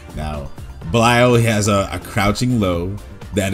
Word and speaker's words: Belial: Okay, let me change the way I say his name. Belial. Because apparently I like saying it the way the game says it is apparently the wrong way to say it, so why not just say Belial?